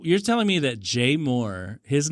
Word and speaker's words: mort: The T is silent because it's French. Oh, like the like c'est la vie, c'est l'amour. La petite Moore.